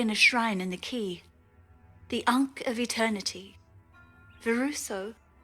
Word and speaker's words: Quay: So, the Quay is pronounced Key. Proof is here. They actually pronounce it as Key.